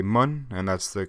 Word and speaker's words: Mun: um again i know that most people say mon and that's the correct pronunciation i don't care i like saying that i'm landing on the moon because it's just needle burrito man to land